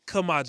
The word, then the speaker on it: Kamaje: It's Kamaje. It's like super simple. But I've heard every version of that 3-syllable name in my lifetime, and I'm just like, I'm just going to make it simple on everybody.